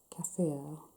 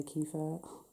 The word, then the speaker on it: kefir: taste so I'm not very very good at pronouncing it but it is kaffir I used to say kefir what it's a natural high Baltic and yes